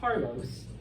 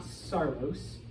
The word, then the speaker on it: Carlos: Spanish and in English that name is Carlos uh not sarlos all right okay so